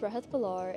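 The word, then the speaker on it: Rehat Bhullar: My name is Rah Balar and in 5 years I hope to see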